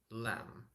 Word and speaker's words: lamb: beef chicken duck duck lamb lamb be careful with this one you don't need to pronounce this B in the end notice how I pronounce it lamb bulk bulk did you